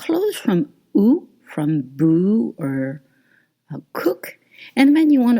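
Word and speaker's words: eau: And you want to read O. O. It's not long. It's O. O. And E A U in French is pronounced O.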